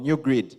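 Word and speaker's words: GnuGrid: way it's spelled guys it's spelled g n u g r i d these guys for one reason or another chose to call that new GD G you know gnu new grid so this eminent panel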